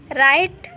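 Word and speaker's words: write: silent होता है तो किसी वर्ड की शुरुआत में अगर डब्लू के बाद आ रहा था है तो वहां पर डब्लू का उच्चारण नहीं होता जैसे कि राइट यहां पर देखिए डब्लू की बात आ रहा है हुआ है तो यहां पर डब्लू कोचर नहीं होगा मतलब कि यहां पर यह डब्लू जगह साइलेंट होगा इसे राइट पर आ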